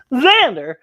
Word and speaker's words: Xander: i'm xander it's pronounced xander xander even though it's spelled with an x it says xander hi i'm willow and